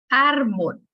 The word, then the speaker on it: árbol: Árbol. Al momento en que está aquí el acento, pues ya entendemos que árbol, ¿sí me explico? Tiene la sílaba con mayor fuerza de A.